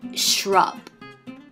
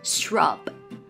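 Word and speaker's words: shrub: พุ่ม ไม้ อ่าน ว่า shub SH นะ SH ออก เสียง ยาว ๆ นะ คะ R มี ม้วน ลิ้น บ ออก เสียง บึ เบา ๆ นะ คะ shub shub อ่า นิด นึง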